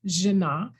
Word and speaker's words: Jenna: few words hi i'm jenna it looks like gina but it's pronounced genna last name is